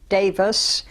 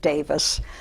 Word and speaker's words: Davies: Well, my full name is Davis, and by the way, Davis is spelled D-A-V-I-E-S. It is a Welsh name, and the Welsh people pronounce it Davis.